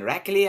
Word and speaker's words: Rraklli: It's pronounced Rraklli and Johnny's productions.